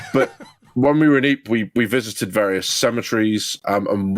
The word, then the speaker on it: Ypres: We went to lay a wreath at the Menin Gate in Ypres, which is in Belgium, and the Ypres salient, Ypres is spelled Y-P-R-E-S.